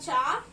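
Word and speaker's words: चार: And you call it as cha ko aki matra char, r, char. And I have written in English as C-H-A-R, char.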